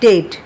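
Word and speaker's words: debt: এখানে আবার বি এর উচ্চারণটা হবে না। এখানে উচ্চারণটা হবে ডেট।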